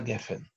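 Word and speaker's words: גפן: Слово гефен – сеголатное. Что это значит? Там, где мы слышим «э-э», или это сегол, сегол, как здесь. Сегол – это огласовка три точки. Или это, например, цейре сегол, как в слове сефер, книга. Да? Ударение падает на предпоследний слог. Гефен, а не гефен.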